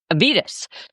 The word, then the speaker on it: Evitas: Evitas. Avitas.